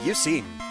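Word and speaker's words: Eusine: got called Eugene so I just pronounce it as Eugene with an S instead of a g basically which thinking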